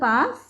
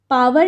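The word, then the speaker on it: power: -7 रे टू द पावर 5 sorry हां h इज -7 रे टू द पावर 5 पावर नहीं होता है इट्स पवर ठीक है डब्लू साइलेंट होता है तो इट्स पवर इट्स नॉट पावर base क्या हो जाएगा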